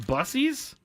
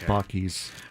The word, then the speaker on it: Buc-ee's: It's pronounced Bussies? No, it's not. It's pronounced Buc-ee's.